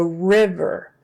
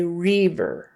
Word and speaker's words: river: else okay so River now don't be tempted to say reav a lot of people will make that I turn into a kind of a long e sound rer but that will give you away just do river as in bigger big bigger river river same thing with liver